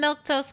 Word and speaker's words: Milquetoast: I am Milktose. That's how you say my name.